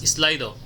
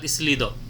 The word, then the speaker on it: Slido: is this is another this is pronounced as slido not islido okay this is slido